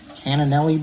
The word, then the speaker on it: cannellini: I'm going to put a can of cannellini beans in the liquid. How do you say that? Let me see. Cannellini. It ends in like leany.